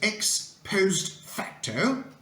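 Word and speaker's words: ex post facto: more scale Here Comes number seven the correct pronunciation is X post facto and it means retroactively retrospectively after the fact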